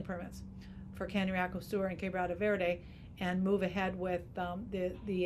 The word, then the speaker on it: Quebrada Verde: And then on the other hand, we're starting, we finished a year of EIA on for drilling permits for Cañariaco Sur and Quebrada Verde, and move ahead with the agencies that handle those EIAs to keep, just not stop here.